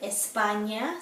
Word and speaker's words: España: The ñ sounds like the GN in lasagna. For example, the word España, Spain, or pequeño, small.